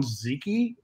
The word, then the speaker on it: Zyci: So I started to pronounce Zyci. So I settled on Ziki, Z-Y-C-I.